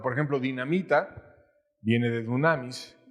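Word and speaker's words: δύναμις: Y esa palabra poder en el idioma que fue escrita esta parte de la Biblia, que fue griego, es una palabra que pronunciada en español es dunamis.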